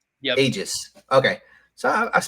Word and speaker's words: Aegis: Is it Aegis? Aegis. Okay. So I pronounced it right for a whole issue.